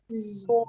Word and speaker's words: sword: So the word, for example, playwright, sword, Playwright.